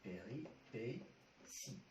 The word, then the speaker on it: péripéties: Les péripéties. D'accord? Ça s'écrit T, ça se lit si.